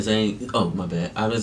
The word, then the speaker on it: Zayn: We got ZAYN. Till dawn. Dawn, yeah. Future see ya. Let's do it. I didn't know what to say. Yeah, ZAYN, ZAYN, all capital letters. Yeah, I know. ZAYN!